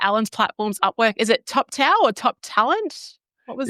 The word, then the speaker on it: Toptal: T as in Tom, O, P as in Peter, T as in Tom, A-L, Toptal.